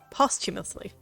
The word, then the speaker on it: posthumously: He no doubt hoped to hide or perhaps even destroy any stories that could be published posthumously. Or posthumously? I can never pronounce that right. Posthumously.